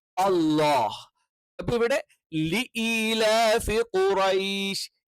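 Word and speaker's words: قريش: means bowl എന്ന് പറയുന്നത് പറയുന്ന ഔ എന്നുള്ള ഉച്ചാരണം അത് ഔ എന്നുള്ള ഉച്ചാരണം അല്ല മറിച്ച് എന്താണ് അത് അലിഫ് വാവിന്റെ കൂടെയോ സുക്കൂനുള്ള വാവിന്റെ കൂടെയോ അല്ലെങ്കിൽ സുക്കൂനുള്ള യാന്റെ കൂടെയോ വരുമ്പോൾ ഉള്ള ഉച്ചാരണമാണ് അപ്പൊ ഇവിടെ എന്ത് ചെയ്യണം ഖുറൈഷ് അപ്പൊ ഖുറൈഷ് പിന്നെ എല്ലാ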